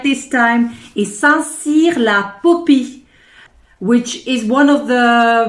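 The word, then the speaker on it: Saint-Cirq-Lapopie: I found myself a parking in, let me say it right this time, is Saint-Cyr-la-Popie, which is one of the most beautiful villages of France.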